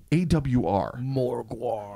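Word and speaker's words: Morgawr: Morgwar. I love reading it. It's a word that has kind of plagued me since I was a child. Is it Morgwar? Right? Well, it'd be Morgar. Because it's G-A-W-R.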